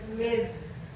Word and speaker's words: Ms: So sabi nila ang pronunciation ng MS is Miz. So hindi nalilitong miss kahit mukha kong miss so eh Miss Queen